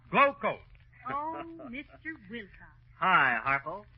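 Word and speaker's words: Glo-Coat: of this rodeo mcgee r-o-d-e-o is pronounced rodeo and glo hyphen c-o-a-t is pronounced glow coat oh mr wilcox hi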